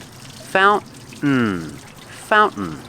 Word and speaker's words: fountain: fountain with this pronunciation you put the tongue up like you're doing a stop t but you don't make the t you fall to the n sound fount fountain this is a fountain